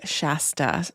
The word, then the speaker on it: Shasta: When I lived near this area, I heard Shasta more often. So that is how I will be pronouncing it.